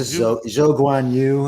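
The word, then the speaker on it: Zhou Guanyu: But with Jean, I keep it's a Zhou Guan Yu is how you say it. They call him Joy to make it easy.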